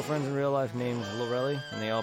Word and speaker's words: Lorelei: I've always called her a mixture of both. I know it's pronounced Lorelei, at least from the anime's perspective, from what I can recall. But I've always just called her Lorelei.